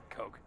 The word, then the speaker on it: Koch: Coke. That's pronounced Coke.